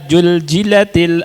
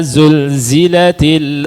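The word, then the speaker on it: زلزلت: Ya, jadi baca idza juljilatil ardu jiljalaha. Dan itu begitu bacanya. Ya. Padahal bisa merubah arti itu atau enggak ada artinya. Ya. Jadi kan harusnya idza zulzilatil ardu zilzalaha.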